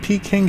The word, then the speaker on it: Peking: I think Peking sounds more like the Cantonese way of saying Beijing.